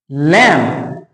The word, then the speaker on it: लिम: Lamp, ना कि बी पढ़ेंगे हम इसको तो लैम्प हो जाएगा, तो हम पढ़ेंगे लैम्प। ये है लिम, ठीक है, हम बी को क्या कर देंगे? साइलेंट कर देंगे।